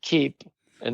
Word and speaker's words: Keepa: So you also are an inventor of Keepa? It's kind of cool. Keepa. Yeah. Keepa. So it's like the word keep and then put an A after it.